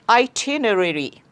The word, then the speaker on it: itinerary: The next word, flight itinerary. Itinerary. Itinerary. I think in England, British pronunciation is itinerary, but in US it's itinerary.